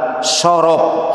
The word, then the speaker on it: sorof: dengan ilmu nahwu dan sorof. Nah, ditulisnya saraf nih, dibacanya sorof ya.